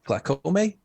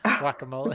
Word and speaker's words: guacamole: you use with chips glycome yeah guacamole guacamole yeah glycomi right guacamole yeah see i keep saying it wrong um but yeah